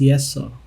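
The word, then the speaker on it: Yeseo: might be the youngest so it's yeso it's pronounced as yes so in the group but she has the most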